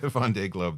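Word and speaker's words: Vendée Globe: to participate in the first how do you pronounce it vond Von Glo yeah Von Globe thank you um I wasn't going to say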